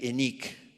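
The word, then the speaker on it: Heinich: del arte francesa Natalie eniq se escribe Jaén es el apellido alemán pero ya saben que los franceses en vez de decir hegel dicen que él y cosas así y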